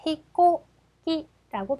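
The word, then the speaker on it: 飛行機: 자, 히코기라고 발음을 할 건데 악센트 표시 보시죠.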